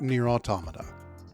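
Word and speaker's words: NieR:Automata: Nier Automata, which I pronounce that way because to me the title evokes the word automaton, and pronouncing it automata makes the person sound like they're from New Jersey.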